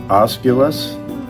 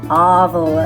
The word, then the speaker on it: obelisk: And we got some feedback on the Osculus. Obelisk. Obelisk. It rhymes with obvious.